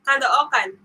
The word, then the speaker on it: Caloocan: Jim Schultz, yeah, it's Caloocan. You pronounce it Caloocan.